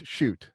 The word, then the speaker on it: Schudt: Schudt. I actually don't know how to pronounce your name. Nobody does. They dropped the umlaut in Ellis Island. It's Schudt.